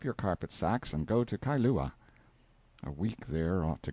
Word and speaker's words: Kailua: We landed at Kailua, pronounced Kai-lu-ah, a little collection of native grass houses reposing under tall cocoanut trees, the sleepiest, quietest, Sundayest-looking place you can imagine.